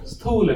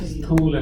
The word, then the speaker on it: Sthula: Sthula Sharira. So the gross body is known as Sthula Sharira, TH. Sthula Sharira. TH, capital U. T is Tha, TH is Tha, and capital U is U.